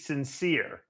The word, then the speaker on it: St. Cyr: love it because it's it's spelled s-t-c-y-r two separate words but it reads sincere because you're a sincere guy it's actually pronouncing the frame frankly in French we're not in France we're in the UK here so it's sincere I mean the states it's the same sincere gotcha okay on my